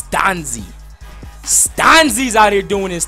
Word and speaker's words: Stanzi: say his name right some of y'all been like stany it's Stanzi and you got to